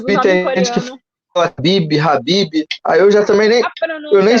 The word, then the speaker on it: Khabib: Não tá errado falar Khabib, mas a pronúncia dele, a correta é Habib.